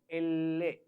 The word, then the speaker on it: elle: We have to give the stress on double L. Elle. It is E-double-L-E.